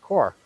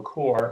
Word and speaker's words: CxORE: kind of take you through uh you know core and what we do um the name um the spelling uh everybody kind of gets tripped up it is pronounced core um you know the x is in there